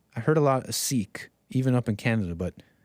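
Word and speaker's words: Sikh: new york-based sik sik Coalition said the correct pronunciation is sick siik that's true I heard a lot of seik even up in Canada but I've heard this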